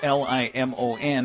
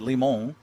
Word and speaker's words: Limon: to Celeste Limon, and it's Limon, and I said Limon, and she goes, yeah, that's right. I guess, some of those names, they just get butchered all the time, so the kids are used to that. Is that a silent N? It's, no, the N is there.